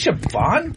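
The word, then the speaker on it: Siobhan: don't I don't even know how to even pronounce that name say it sioban that's sioban sioban it's Irish huh a little Irish girl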